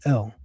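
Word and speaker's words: אל: If you were speaking Arabic, you'd be even closer. Allah. But it just so happens we're speaking Hebrew. And so the pronunciation is El.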